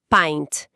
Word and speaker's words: pint: O copo de cerveja é pent. A fonética traz um som de a com i. Fica barra p a i n t barra pint.